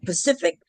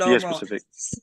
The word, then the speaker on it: specific: the conditions of a can't even say that word Pacific probably said that word specific specific say it again for me specific look we all be pronouncing that word wrong yeah specific hting agreement